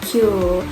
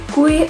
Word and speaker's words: queue: Ini bacanya Q ya anak-anakku, bukan kue. Kalau kue nanti makanan loh ya.